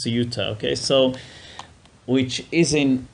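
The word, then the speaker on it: Ceuta: in SAA which Isa how do they sauta okay they pronounce sauta okay so which is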